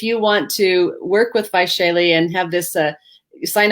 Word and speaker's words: Vaishali: there on the screen h a l v-a-i-s-h-a-l-i by shaylee and how do you say your last name